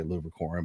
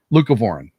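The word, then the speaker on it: leucovorin: talking about a medicine, I always pronounce it wrong, Luor. I want to say licorin but it's not um lucavorin that may help uh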